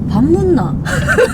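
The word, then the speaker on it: 밥 뭇나: People from Seoul say it like, "Bap meogeosseo?" But people from Daegu say it like "Bap mutna!"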